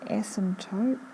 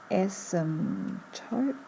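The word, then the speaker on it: asymptote: so the here the ASM toope it's a strange word without a a silent P ASM toot ASM toot and this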